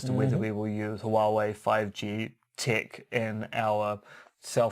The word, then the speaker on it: Huawei: I was going to go Huawei, and of course that's wrong. Huawei. Huawei are a major Chinese firm which may or may not have connections to the CCP.